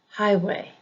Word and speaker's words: highway: about is compound words compound nouns usually have the emphasis on the first syllable for example highway highway blackbird blackbird compound